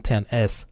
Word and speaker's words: X: year for the iPhones 10th anniversary Apple skipped the iPhone 9 and went straight to the iPhone X but of course it's pronounced it the 10 and not X as we know that